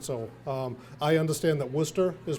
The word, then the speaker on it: Worcester: and they say oh with Worchester I mean no it's Worcester and it's wicked right